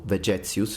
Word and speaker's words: Vegetius: Again, according to Vegetius, or Vegetius if you want to use ecclesiastical pronunciation for his name, weapon training was so